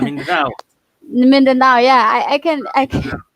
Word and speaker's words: Mindanao: I just want to thank you, the film festival, Minando, right? Minando, right? Mindanao. Mindanao. Yeah, I can pronounce it.